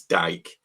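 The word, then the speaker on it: Dike: There's no way that's pronounced DK. It's dyke.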